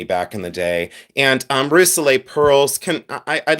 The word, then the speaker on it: Rousselet: This is Rousselet, and I pronounce it, oh, please stay positive, honey.